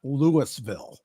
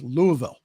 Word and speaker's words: Louisville: Crown is set to run on Saturday in Louisville it's not Lewisville it's Louisville got to pronounce it correctly in Louisville however officials from